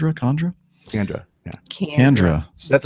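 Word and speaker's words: Kandra: my brain going on there from Deacon Greg Condras. Is that how you pronounce his name? Condra? Kendra.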